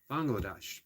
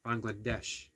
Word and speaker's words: Bangladesh: known as something that I keep mispronouncing which I did for um Bangladesh bangadesh I keep reminding myself that by quite a few americ seem to mangle that uh seem to mangle that name so it's been a